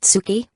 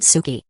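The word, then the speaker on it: 好き: Not Tsuki, but Suki. Say it like this, I like you.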